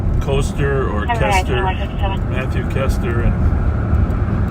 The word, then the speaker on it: Koester: I'm not even sure how to pronounce Matthew's last name. Koester or Kester, Matthew Kester, and it's Koester.